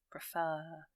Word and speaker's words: preferred: to take the bus preferred so the stress is on the r section the second syllable if you like I